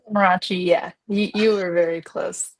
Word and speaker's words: Amarachi: It's Amarachi, yeah.